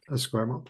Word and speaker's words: Esquimalt: Geoff, could you pronounce Esquimalt, please? Esquimalt, I can, yeah.